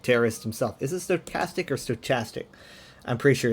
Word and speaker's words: stochastic: You know, he's a he's a he's a stochastic terrorist himself. Is it stochastic or stochastic?